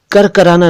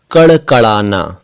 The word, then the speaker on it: कड़कड़ाना: कुछ और शब्द देखिए, कड़कड़ाना, करकराना नहीं कड़कड़ाना।